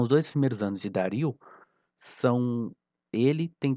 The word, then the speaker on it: Dario: Então, um nobre chamado Dario, se eu não me engano a pronúncia é Dario e não Dário, mas eu não sou muito bom das pronúncias, né?